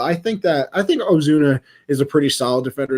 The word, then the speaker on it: Ozuna: to say his name but it's ozuno did i say it right ozuna it's not an oh it's an a so yeah so i